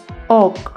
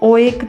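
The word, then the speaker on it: oak: टॉड ओ ए के ओक। इसे ओ एकक नहीं बोलेंगे। इसमें दो वोल्स हैं। फर्स्ट वोल की लॉन्ग साउंड आएगी और दूसरा साइलेंट रहेगा। तो इसे बोलेंगे ओक।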